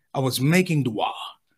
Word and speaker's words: dua: Every once in a while, when I'm feeling myself, I put an extra syllable in the word that's not there. I was making dua-wa.